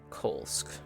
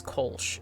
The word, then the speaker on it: Kolsc: I think that he's insane in a lot of regards, but also I don't trust Kolsk. Kolsch. He said it was Kolsch, even though it's spelled like Kolsk.